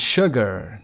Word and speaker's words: sugar: Sure and sugar, number 11, are the only two words in the English language that begin with SU and are pronounced SH or sh.